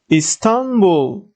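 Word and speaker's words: İstanbul: careful and stressing geographical names are continuing here Istanbul ton has more letters it's checked or it's closed syllable what does it mean the syllable ends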